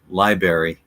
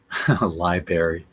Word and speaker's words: library: mispronounce but I think me most of us pronounce it correctly now when we were kids we might have said Library liary looking back is kind of funny but obviously